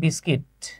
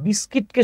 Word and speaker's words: বিস্কিট: দেখেন আমি এই যে জায়গাটাতে আসলাম, এই যে টি অ্যান্ড বিস্কিট, এখানে চা আর বিস্কিটকে শুধুমাত্র যুক্ত করা হয়েছে। আমরা অনেকে বিস্কুট বলি, উচ্চারণ হচ্ছে বিস্কিট।